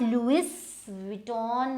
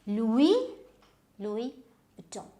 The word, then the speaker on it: Louis Vuitton: So now this is not Louis Vuitton or whatever you might say, it is Louis. So Louis and Vuitton. Now this U and I, they should come together.